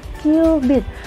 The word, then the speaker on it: cubit: kalian dinamakan 1q Beat ditulis satu cubit Tapi bacanya cubit bukan cubit-cubitan ya Nah dan sekitar 4.000